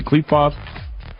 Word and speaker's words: Qliphoth: Is the Qliphoth, how do you say Qliphoth?